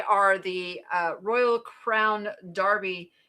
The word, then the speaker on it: Derby: Okay, I say derby because that's how it's spelled, but I am told that uh the English called Derby. And I get that. Is it an accent thing or is it is it actually Derby?